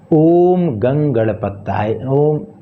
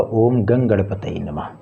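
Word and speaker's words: ॐ गं गणपतये नमः: ओम गंगणपताय, माफ कीजिएगा, ओम गंगणपतये नमः।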